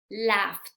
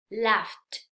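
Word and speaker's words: laughed: que al agregar ede Cómo sería la pronunciación esa sería laft es como se agregáramos una tea y al final entonces pues ahí nada tiene que ver con pronunciar Ed verdad no vamos a a pronunciar la Fed Si eso sería totalmente correcto es laft los siguientes ejemplos igual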